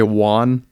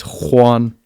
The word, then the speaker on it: Juan: I always say his name wrong. I say Juan, but it's Juan.